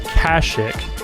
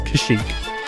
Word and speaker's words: Kashyyyk: You even said it right. Whether you know it or not, guys, it's actually not Kashyyyk. It is Kashyyyk.